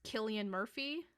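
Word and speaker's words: Cillian Murphy: uh number one I believe his name is pronounced Killian Murphy um from peaky blinders Clint Eastwood what Daniel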